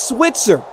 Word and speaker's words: Switzer: first down marker but sunny its Switzer like Barry Switzer that Switzer that's like the 20th name